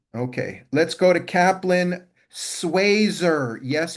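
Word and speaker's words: Schweser: Let's go to Kaplan Sazer. Yes, it's pronounced Sazer, not Schweiser.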